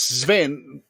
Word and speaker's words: Sven: Yeah, it's Sven.